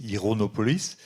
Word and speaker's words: Ironopolis: du livre c'est enfin si on prononce à l'anglais c'estonopolis ironopolis c'est la cité de